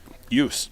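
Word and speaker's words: Joost: Ricardo doubled through ju yust yust Y is his name that's yikes I didn't spell j o o s t it's hard y is how you pronounce it about yeah any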